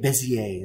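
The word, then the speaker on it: Bézier: this polygon one you've got a bezier bezier bezier that's how you say it and you've got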